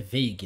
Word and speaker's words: Veigh: Eu falo Vade, mas é Vague, né?